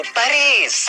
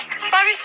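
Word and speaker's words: Paris: याद है 10 साल पहले मैंने कहा था I will take you टू पेरिस। पेरिस नहीं, पेरी।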